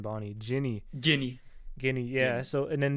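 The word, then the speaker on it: Ginny: because wait a second I always pronounce the name jinny but that's Guinea like guinea pig yeah I mess it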